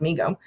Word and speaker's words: Mego: response to overwhelming demand MIGO pronounced Mego Corp was started by his father David Abrams in 1954 and named by his younger brother Howard who would say me go to Howard later became